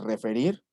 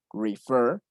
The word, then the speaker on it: refer: Pero ¿qué creen? Que aquí sí está acentuada la última sílaba. Vean, refer, refer. Entonces, se duplica la R y se agrega ed. Referred.